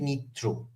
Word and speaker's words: Mitra: will come after you otherwise and I'm mitro mitro so that's why I don't pronounce but not all A's become O's it's